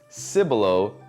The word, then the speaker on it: Cibolo: i'll correct you or i'll correct y'all now it's cibolo not cebolo it's bernie not